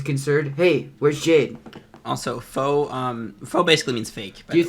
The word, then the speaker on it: faux: Spent 3 Fox real. Foe. Wait, what did you say? It's French. It's pronounced faux.